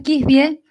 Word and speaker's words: Kisbye: Sí, no, mi apellido es Kisbye. No, no es de origen inglés, es de origen dinamarqués, entonces no, no tiene la pronunciación de este... inglesa.